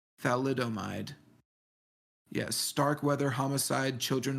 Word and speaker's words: thalidomide: how do you say that what is that thalomid thalidomide yes Stark weather homicide children of thalidomide yeah